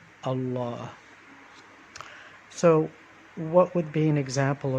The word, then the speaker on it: الله: mistakes and the word allah is actually the emphasis is on the last half of the word so instead of saying allah say it's allah allah what would be an